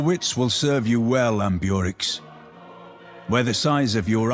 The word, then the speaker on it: Ambiorix: Okay, so at least now I know what this leader is pronounced like. Ambiorix.